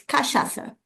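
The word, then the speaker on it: cachaça: don't know you uh know about it is kashasa. Kashasa kashasa. Yeahasa or no? Pardon me. You you you taste one or no? Oh yeah. I I like kashasa.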